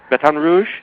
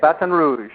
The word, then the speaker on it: Baton Rouge: you are you're in Baton Rouge did I pronounce that right yeah Baton Rouge batan Rouge that's how they say it batan Rouge batan Rouge I'm I'm pretty good at lingu